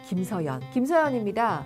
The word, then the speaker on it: 김서현: 김서현은 뭐로 잘 들릴까요? 김서연입니다. 이승훈입니다. 아, 승훈이요? 아니요, 승훈이요. 이하정입니다. 아정이요? 아니요, 이하정이요. 이런 이름들은 흐지만 이응으로 들리기가 쉽거든요. 그래서 김서현, 이승훈, 이하정 정확하게 흐 발음 하시기 바랍니다.